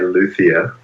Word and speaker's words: luthier: Is it a luthier? Is it a luthier? Is it a luthier? Most people say luthier.